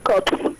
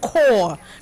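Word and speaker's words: Corps: again National Youth service cops okay it's pronounced core not cops okay National Youth service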